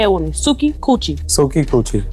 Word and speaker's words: Suki: Suki Coochie. Suki rhymes with Coochie.